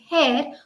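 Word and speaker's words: hare: h a r e is pronounced as hair which means a rabbit it ran swiftly across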